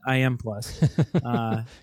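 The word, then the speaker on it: i.am+: M oh wait I you said to pronounce I am plus I is the name of the company and I just read that here in the article so it's I dot M plus but you could pronounce it I M plus confused yet yeah well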